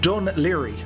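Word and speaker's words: Dún Laoghaire: to pronounce it but it's pronounced done leery as we have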